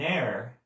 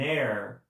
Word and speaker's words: heir: O herdeiro, ele tem o H mudo no inglês. Então, quando eu quero falar um herdeiro, eu vou falar an heir, tá? Então, an heir, porque esse H é mudo. Então, a próxima palavrinha, a próxima letrinha já é o som de uma vogal.